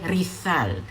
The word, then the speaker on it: Rizal: We call him Jose Rizal, but back then he would have referred to himself as Jose Rizal. The letter Z is pronounced like the English digraph TH by speakers of Castilian Spanish.